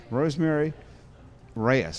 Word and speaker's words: Rosemary Reyes: Rosemary Reyes, is that the correct pronunciation? Yes, it is. Okay.